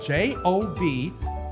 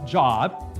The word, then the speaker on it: Job: the pronouncement is spelled j-o-b not pronounced job it's the long o job so our story